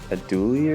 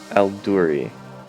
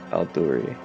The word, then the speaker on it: Al-Duri: He had a video like explaining how you say his name, so I was trying to get it right. He says like a lot of people get it wrong. I followed him. Al-Duri. Ahmed Al-Duri. And he's like really good